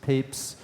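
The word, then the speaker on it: Papez: scientist named James papes its pronounced papes uh and he was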